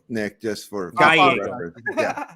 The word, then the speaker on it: Gallego: It's Gallego, Nick, just for Gallego. Yeah. Double L's, always pronounce it as a Y in English.